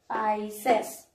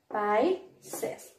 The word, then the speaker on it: Pisces: you one more time, okay, how it is pronounced. You might be confused, no? So please listen it carefully. The first one is Pisces. The first one is Pisces.